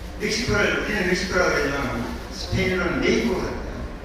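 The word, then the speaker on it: México: 그 말씀하신 중에 보면은 메이코라 그러는데 메이코는 메기족이 사는 곳 멕시코를 우리는 멕시코라고 그러지만 스페인어는 메이코거든요. 그 스페인어식 발음을 하면 메이코고 영어식 발음은 멕시코입니다.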